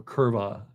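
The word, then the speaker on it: kurwa: does Kura mean or kurva if they pronounce the W with v as a v like Germans do oh I like Kil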